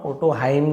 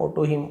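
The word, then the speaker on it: Otohime: यानी वहां ठीक है ओटो हिम है ना ओटो हाइम जैसे दिख रहा है बट ओटो हिम नाम है तो हिम बोलेंगे ओटो हिम द princess of द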